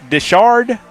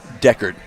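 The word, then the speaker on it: Decherd: Uh, no, in all seriousness, I mean, uh, Winchester I mean, I guess Dishard Decard.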